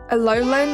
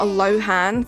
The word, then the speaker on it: Alolan: Alolan, not Alohan.